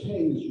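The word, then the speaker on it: Teays: It's known to geologists as the Tays River. It's pronounced T-A-Y-S, or spelled Tees River, which was it's considered one of the oldest rivers on the face of the earth.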